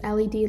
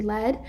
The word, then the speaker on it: lead: well-known heavy metal so the two words that are pronounced the same here are the past tense of lead which is led lead and then this word led it's about the same as lead um but this is